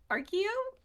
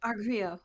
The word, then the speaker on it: Argrio: and she's gonna ask Argio? No, that's not how we pronounce it. Gilo. Agrio. Argrio.